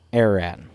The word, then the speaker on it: Ararat: And, yep, that's how you say it, Ararat.